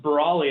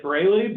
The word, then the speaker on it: Brawley: My name is pronounced Brawley, actually. It looks phonetically like Brayley, but that's because it's a derivative of O''Breighh. It's an old Irish name, and I think it got chopped somewhere in Ellis Island many years ago.